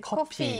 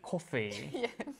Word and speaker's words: 커피: For me, sometimes it's O and O. Kopi, Ah, 코피, the nose bleeding, and kopi. 코피 and Coffee. coffee. Coffee and Totally coffee is different.